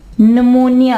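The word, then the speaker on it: pneumonia: P silent की examples हैं सोडो, सोडो, ठीक है। इसके अलावा न्यूमोनिया, नमोनिया।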